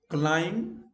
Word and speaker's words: climb: But the following words, B is silent, whether in Britain or America. Climb, crumb.